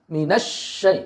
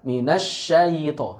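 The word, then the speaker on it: مِنَ الشَّيْطَانِ: Minasyai. Nah, cukup seperti itu. Bukan minasyayito, syayito. Nah, ini salah.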